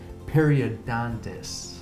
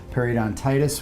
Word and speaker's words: periodontitis: bit what are the differences between gingivitis and periodontist did I prepare that correct rate on Titus periodontitis yes I'm not a syllable oh that's alright it's it which just